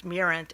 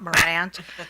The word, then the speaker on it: Mirant: to finally understand that it was mirant and not Morant I thought that was